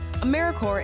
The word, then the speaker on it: AmeriCorps: Sometimes people pronounce the P, but don't make that same mistake. AmeriCorps is alive and well, just spelled with a silent P. So think of Apple Corps, or core of the earth.